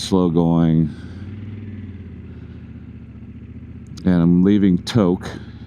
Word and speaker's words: Tok: And I'm leaving to I think I originally pronounced it and it's not. It's to.